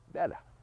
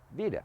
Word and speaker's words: Vida: Some people pronounce her name Veda. I pronounce her name Vida.